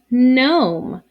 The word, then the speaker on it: gnome: just like this word gnome we don't say good gnome we say gnome the g is silent sometimes people will put